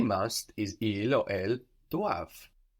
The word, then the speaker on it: doivent: They must is ils or elles doivent. D-O-I-V-E-N-T. So also spelled with that silent E-N-T on the end.